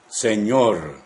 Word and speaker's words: señor: Perdón, señor. Ñor. Señor. Perdón, señor. How do you address another man in Spanish? Ñor. Señor. Be careful with the R sound, which is different than in English.